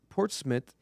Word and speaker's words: Portsmouth: Portsmith. It's spelled Portsmouth, but I always say Portsmith.